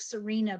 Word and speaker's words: Serena: last 2 weeks by Serena Dyer. It's spelled like Serena, but she pronounces it Serena, who's an English scholar, called Material Lives.